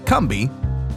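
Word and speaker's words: Combahee: our history and culture I'm the kby fairy raid and that spelled c o m b a he e e but pronounced kbi was daring even by the standards of the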